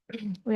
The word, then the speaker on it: We: English का जो आर है वो जर्मन में हो जाएगा एर। English are is pronounced as एर इन जर्मन।